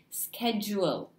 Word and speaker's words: schedule: Also, in spoken English, you will often hear people say schedule, schedule, ul, as if there are two vowels at the end, two syllables, or a shorter version with ul, ul, schedule, schedule, very short.